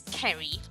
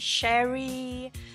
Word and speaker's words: Ceri: Okay, so my name's Ceri, but lots of people, when they see it written down, because it's written C-E-R-I, they don't really know how to pronounce it. So I get all kinds of different variations. I get Ceri, Ceri, Sherry.